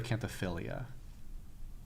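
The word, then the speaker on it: Acanthophyllia: Those are Acanthophilia.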